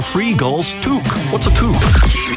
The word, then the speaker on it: toque: What's a toque? I don't know, but it rhymes with kook.